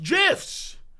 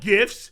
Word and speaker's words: GIF: yes it's pronounced gifs not gifts GIFs like the [